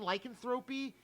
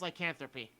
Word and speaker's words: lycanthropy: Because I always keep saying lycanthropy, but I know that's not it. I found out it's lycanthropy, where you can turn into a werewolf.